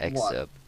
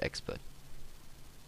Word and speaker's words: excerpt: Excerpt. I don't know how you pronounce it, but yeah, I'm pretty sure you don't pronounce it expert.